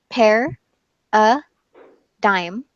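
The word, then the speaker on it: paradigm: so it has to it has three syllables pair a dime hair is like maybe you know the fruit pair I'm going to eat a pear or I want a pair of shoes the UH is unstressed so it becomes like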